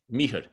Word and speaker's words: Mihr: How do you pronounce Mihr.